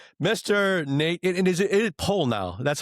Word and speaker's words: Pollnow: And is it Paul now? That's how you pronounce it properly. Palno.